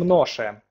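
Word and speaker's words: noszę: Да, мы произносим «ноше», но пишется с хвостиком, поэтому «в маю я ношу шорты», что переводится как «в мае я ношу шорты».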